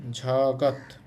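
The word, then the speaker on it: 저것: এটা তারপরে আছে দেখেন ঝগত যেহেতু শুরুতে থাকলে ঝ এর মত উচ্চারণ হবে ঝগত এরপর হচ্ছে ঝগন এরপর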